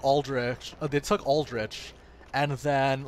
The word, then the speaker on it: Aldrich: the the music of Aldrich although it's funny though if I were to read that as I pronounced it I would have pronounced it as alderic cuz the CH makes a kook noise this is so fun